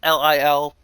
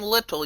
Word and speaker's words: Lil: Lil, L-I-L. If you call him Little, you're getting his name wrong. It's Lil.